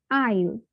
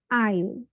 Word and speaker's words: aisle: এস চলে যাচ্ছে silent মোডে, আইল, note I is something like that, এটা হবে না। সো দিস উইল বি আইল।